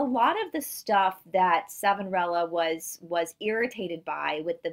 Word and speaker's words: Savonarola: So Savonarola is how we say this guy's name here in the United States. It's how the American professors pronounce his name.